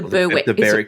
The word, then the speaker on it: Berwick: sisters I think the berck Berwick or berck I think it's Beric there's a suburb in Victoria that's we we pronounce it as Beric the the Beric cases